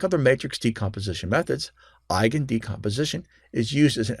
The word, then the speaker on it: eigen: For example, the method named after eigen. Eigen, pronounced I like your I, and then eigen, is a German word that means own or innate, as belonging to the parent matrix.